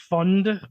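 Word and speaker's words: Pfund: new coach is Randy fund pfu I'm guessing the p is silent on that um he had been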